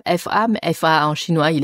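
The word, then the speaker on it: 法: On a traduit par la syllabe fa, mais fa en chinois, il y a une centaine de caractères. On a choisi le caractère fa au troisième ton, fa, qui signifie la loi, la règle, justice, effectivement.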